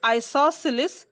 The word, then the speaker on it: isosceles: got your answer but the pronunciation was a bit wrong it is isosceles triangle thank you Lito you